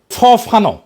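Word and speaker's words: Fanon: দেখায় কিভাবে লড়তে হবে ফরাসি আল চিন্তাবিদ ফানো ফানো নাম আসল উচ্চারণটা উনি বলছিলেন পরাধীন জাতিগোষ্ঠী লড়াইয়ের ভিতর দিয়ে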